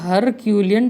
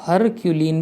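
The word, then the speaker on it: Herculean: उसके बाद आता है ये हरक्यूलियन टास्क। मैं इसको हरक्यूलियन पढ़ रहा हूँ, ठीक है। बहुत लोग इसको हरक्यूलिन भी पढ़ते होंगे, मैं इसको हरक्यूलियन पढ़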